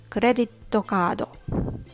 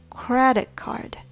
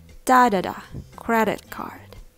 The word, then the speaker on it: credit card: you say this word make sure you get the right Rhythm credit card T it has three syllables now be careful not to have too many syllables like credit to it's credit card credit card do you hear the